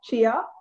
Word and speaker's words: Chia: hi thank you guys for having me it's pronounced chia chia also known as the gift yeah